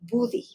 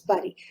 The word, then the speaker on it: buddy: be pronouncing buddy because if you pronounce this in uh by someone that only speaks Spanish it would be booty right so then they need to know that these should be um pronounced as body that's why there's this